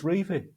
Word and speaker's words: Revie: the Revie plan wasn't the Revie plan, really.